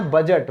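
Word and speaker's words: budget: इसी तरह बजट, बजट में भी डी क्या है, साइलेंट है, क्योंकि ये जी से पहले है, जी से पहले है।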